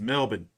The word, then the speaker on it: Melbourne: on me all week the aussies about me pronouncing it correctly it's melbourne mike uh once again i'm teaching you controversy